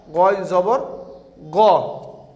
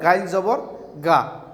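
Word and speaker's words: غَ: And you have to pronounce goin zabar go. Goin zabar go, not gain zabar ga.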